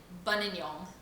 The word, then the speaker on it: Buninyong: I just love to shock people with the name of the town that I was born in, Buninyong. Try and spell that for me. Again? Buninyong.